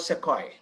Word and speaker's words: Sequoia: Local people call Sukhoi, but it's called Sequoia.